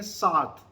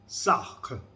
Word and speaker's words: Sartre: ये इसकी प्रोनाउंसिएशन जो है आपको यहाँ पे आप सुनेंगे, मगर जो फ्रेंच प्रोनाउंसिएशन मैंने इसकी सुनी वो क्या थी, जॉन पॉल सार्थ, जॉन पॉल सार्थ. ये इसकी फ्रेंच प्रोनाउंसिएशन है.